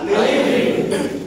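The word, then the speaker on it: ألف: علما ربنی علما ربنی علما অর্ফের নাম কি আলিফ আলিফ আলিফ আলিফ আলিফ আবার বলেন আলিফ সবাই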